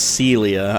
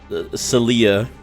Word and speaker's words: Celia: Oh, it's pronounced Celia. I've been saying it Celia like for 20 years.